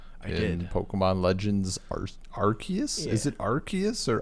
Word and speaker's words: Arceus: Pokemon Legends Arceus?